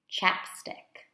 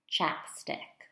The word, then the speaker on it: chapstick: Chapstick. Chapstick. We can compare that pronunciation with palillo.